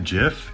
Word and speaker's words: GIF: of image and video tools including video to gif yes it's pronounced jiff and a bunch of pdf tools including one